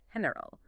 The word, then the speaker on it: general: E or an I, it produces a soft aspirate sound very similar to the English H. Okay. Think of the word general in Spanish, which is pronounced heneral or gigante, pronounced gigante.